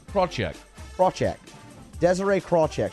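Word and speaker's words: Krawczyk: couldn't pronounce k-r-a-w c-z-y-k that's well that's like shushefsky yeah but also kind of like ram chick so the let's check at the end though yeah craw check braw jack desiree crawl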